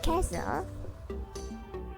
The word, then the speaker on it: castle: Silent letter yang kedua yaitu huruf T yang tak terbaca dengan syarat diikuti huruf CH atau didahului huruf S. Contohnya catch, street, reach, dan juga castle, listen, Christmas.